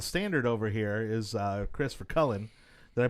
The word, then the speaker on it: VerKuilen: And, of course, setting the standard over here is Chris VerKuilen. Did I pronounce it right? Close. VerKuilen.